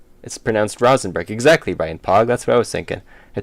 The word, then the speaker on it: Rosenberg: It's pronounced Rosenberg. Exactly, Brian Pog. That's what I was thinking. It's pronounced Rosenberg. It's pronounced like row.